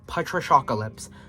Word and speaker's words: Patriciacalypse: And yes, it is pronounced Patriciacalypse. So Patrish, take off the ia, and then put acalypse on. That is how you pronounce it.